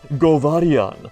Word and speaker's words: Govarian: is a bad name if you pronounce it govarian like a yellow boy i think it's fine